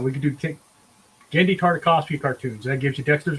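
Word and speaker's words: Genndy Tartakovsky: That was Gendy Tartakovsky was Samurai Jack.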